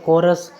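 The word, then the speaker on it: chorus: आपको याद रखना है कि सी एच से पहले कुछ नहीं हो, सी एच के बाद में ओ वोवेल हो, ओ के बाद में आर कॉन्सोनेंट हो, आर के बाद में वोवेल हो कोई भी एक, उसके बाद में कुछ भी हो, तो ऐसी कंडीशन में सी एच का उच्चारण होगा क।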